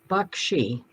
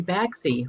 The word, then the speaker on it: Baxi: see that you have the uh how to pronounce it thing is bakshi is that right yes 10 out of 10.